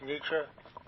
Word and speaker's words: Nietzsche: And fucking Nietzsche, pronounced Nietzsche, the philosopher, an atheist, rather crazy, but apparently quite intellectual.